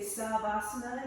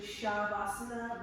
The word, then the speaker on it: Shavasana: It's just like people who say savasana. It's actually shavasana when you have a single S in the language.